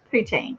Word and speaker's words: poutine: Poutine.